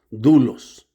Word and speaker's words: doulos: Dulos. Luego se escribe doulos. D o u l o s, pero se pronuncia dulos.